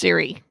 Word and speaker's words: Ceri: And your name, Ceri, is spelled Ceri, pronounced Ceri. Yes, like the iPhone, but spelled differently.